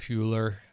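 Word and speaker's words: Hüller: nice to see uh Sandra Huer I think is how you say her name uh from anatomy of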